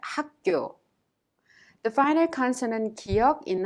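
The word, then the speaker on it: 학교: job let's look at the pronunciation is pronounced hakyo the final consonant kyog in hak the first syllable means the soft k sound kyok in kyo and turns into a strong tension sound thereby pronounced hakkyo good job at this time we will take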